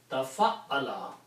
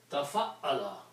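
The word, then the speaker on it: تَفَعَّلَ: Okay, if you pronounce it, becomes tafa'ala. This is a different ba where you make a bigger word by adding a ta in the beginning and putting a shadda on ayn, middle letter. So tafa'ala, so if you apply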